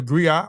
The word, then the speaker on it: griot: The griot or jelly professional encompass many roles. The griot or the griotis, pronounced griot or grioti, have been referred to